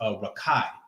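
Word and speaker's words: רָקִיעַ: So in the Hebrew, it's pronounced rakai, I believe.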